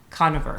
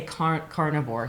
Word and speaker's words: Koniver: south carolina his name is i i always pronounce this wrong and i know i'm going to do it again but dr conover you got it oh i got it good okay i usually say carnivore so conniver connor is it and and and he's uh